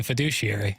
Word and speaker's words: fiduciary: I'll say it again fiduciary how you like us now you must push the emphasis on the douche syllable that comes from thanks